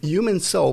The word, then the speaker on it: HuemanSol: go to Etsy Etsy the page is human soul but it's spelled h u m an s o l on Etsy a human